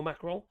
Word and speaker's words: Macron: as a president Emanuel macron uh people keep call macron it's not a macron or macroni macron M don't pronounce the n on Monday uh to